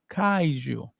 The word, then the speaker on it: kaiju: k k k Kaiu ka yeah said kou Kaiju I got you my friend I got you